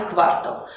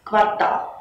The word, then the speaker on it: квартал: неправильно в любом значении в этом слове ударение должно падать только на последний слог квартал и всё так намерение